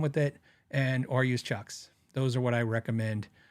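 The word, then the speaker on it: CIOKS: using I like Chucks it's c i o k s c maybe there's but it's it's pronounced Chucks weirdest spelling c i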